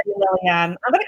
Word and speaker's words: Liliane: So it's the pronunciation with the E on the end is Liliane. It's French. But Mum called me Lillian and Dad called me Liliane. So both are good.